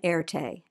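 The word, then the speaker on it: Erté: remain de turtoff was known by the pseudonym erte the french pronunciation of his initials rt he was born in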